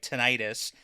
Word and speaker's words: tinnitus: rabbit hole of, okay, is it pronounced tinnitus or tinnitus? So technically it should be tinnitus. Is that when you have a ringing in your ears? Yes, because the itis part usually refers to inflammation, right?